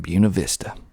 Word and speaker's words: Buena Vista: that's how that's how the locals pronounce it buena vista next we have unidilla